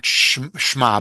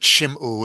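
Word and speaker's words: שמעו: It begins with shima. Um, not shma but shimu. It's the plural.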